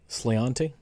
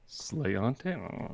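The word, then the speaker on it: sláinte: leave schreiber's slaint Irish whiskey what is it sliante slayante is it s-l-i-a-n-t-e with it yep that's a that's a there's a specific pronunciation of that and uh cheers yeah is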